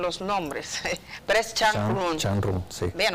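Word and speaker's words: Zhang Run: Changrun, sí. Bien, o sea, lo pronuncié bien.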